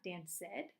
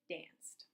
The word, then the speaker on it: danced: dance good so it goes to danced once again not Dan said danced one syllable okay the third rule